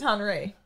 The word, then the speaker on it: Henri: And then you ain't feel comfortable to be like, no, since it ain't Henry, it's Henri.